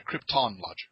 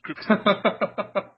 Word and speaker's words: Kryptonlogic: I'm sorry I'm sorry Krypton logic Krypton not right not Marlin Brando's pronunciation not Krypton Krypton Krypton I apologize that's cool